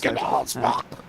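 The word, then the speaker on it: Hugenholtzbocht: Hugenholzbach. Hugenholzbach, You've got to use a bit more throat than we are, but we're not Dutch. Hugenholzbach.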